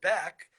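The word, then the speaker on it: Baeck: It's one big long word, and the important thing to remember is that Beck is for the name of the great German Rabbi Leo Beck, which means it's spelled the German way.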